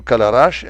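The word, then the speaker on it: Călărași: jews in two trains one going to calarash and one to podu ui i'm pronouncing them romanian way the jews was often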